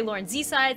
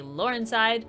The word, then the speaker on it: Laurenzside: Also, by the way, there's no real way to say my name. Some people say LAURENZSIDE, some people say LAURENZSIDE, some people say LAURENZSIDE. Whatever way you want to say it. It can be said many ways.